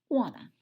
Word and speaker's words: Juana: It's spelled Juana, and it's pronounced Juana.